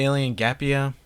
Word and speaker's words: Gapia: the same price, and that is Alien Gaappa. It's actually Alien Gapia. And I knew that. I mean, just look at my stupid smug little face as I said it wrong.